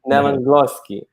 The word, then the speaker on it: Nevenglosky: a guy I call him kacha Master Pete neosi I hope I pronounce good yes you did you did it